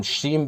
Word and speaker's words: श्रीं: शम शम जब हम श्रीम का उच्चारण करते हैं तो कहा गया कि इसमें चार वर्ण हैं। कौन-कौन से? श, र, ई और बिंदु।